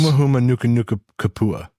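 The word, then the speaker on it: humuhumunukunukuāpuaʻa: So if you break it out into syllables, Huma huma nuka nuka kapua.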